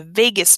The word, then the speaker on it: vagus: And it's called the vagus nerve, but it is not spelled like the city, so be careful with that.